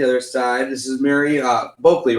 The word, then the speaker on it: Boehlke: So if you guys were not tuned in to the other side, this is Mary Boehlke, right? Am I saying it right? Boehlke. Yep. Okay.